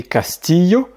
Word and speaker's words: castillo: poulet, llorar, pleurer, billete, billet, llamar, appeler, et castillo, château. Note importante, comme on a vu au tout départ, si tu entends par exemple caché, cheno, chover, pocho, bichette ou castillo, eh bien c'est exactement la même chose, mais